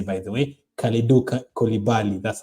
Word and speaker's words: Kalidou Koulibaly: Kalidou Koulibaly, that's how you say it.